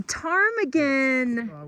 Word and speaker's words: ptarmigan: A ptarmigan! With a silent P.